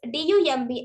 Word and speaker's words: dumb: knife life knife knife also the letter B in Dum is not is also not pronounced we pronounce d u m b as dumb but not as dumb dumb next example is letter